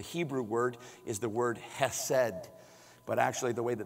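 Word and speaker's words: חֶסֶד: of fun to say it sounds like you're clearing your throat it's ed say that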